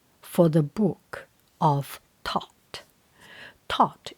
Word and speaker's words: Thoth: Thoth, it spells like Thoth. I think TH, instead of pronounce thought, it pronounced Thoth.